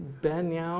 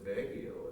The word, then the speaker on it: Baguio: And this is from, is Banyao or something, Banyao? In the Philippines, a summer capital, and this is from his notebook, and he's said that down there it says it's presented to him by somebody. Next slide. That's Baguio, isn't it? Baguio, is that how you pronounce it? There we go. Baguio, that makes sense.